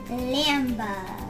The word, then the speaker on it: Lambda: But how do we pronounce this letter? Lambda.